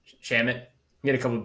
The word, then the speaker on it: Shamet: Shamet.